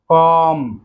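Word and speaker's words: comb: দেন রয়েছে কম, কম অর্থাৎ চিরুনি, যে চিরুনি দিয়ে আমরা মাথার চুল আঁচড়াই, এই চিরুনি। এই কমের শেষে কিন্তু বি রয়েছে, এই বিটি কিন্তু সাইলেন্ট বি, আমাদের এটি খেয়াল রাখতে হবে, উচ্চারণ হবে কম, কম অর্থ চিরুনি।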